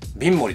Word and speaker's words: Vinmori: これビンモリって読むんだよね。ビンモリだよね。